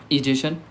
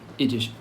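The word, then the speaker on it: ingestion: इजेशन इंजेशन बोलते हैं इसको।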